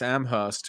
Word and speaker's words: Amherst: jer jer Jeff Jer he pronounced it to uh he went to UMass AM host which I thought was